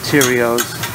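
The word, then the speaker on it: Theriot: live stream show on youtube on ronald j tyrio's channel i'm the one that invented fandango friday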